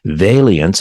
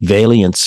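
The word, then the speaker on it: veillance: and high-speed trains rests on technology influenced by Valiants and I hope I'm pronouncing this right Valiants flux that's v-e-i-l-l-a-n-c-e and then the word flux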